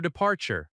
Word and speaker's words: departure: The word departure has stress on the second syllable. De-par-ture. The r sound in American English is strong. Departure.